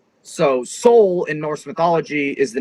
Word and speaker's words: Sól: which Seoul means sun it's pronounced the same but it's uh Sol instead of s-o-u-l so Seoul in Norse mythology is